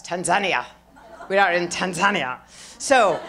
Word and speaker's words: Tanzania: which leaders I'm re I just came back from Tanzania that's how they say it there aren't I cool we call it Tanzania but they say Tanzania and they correct you I'm hi it's so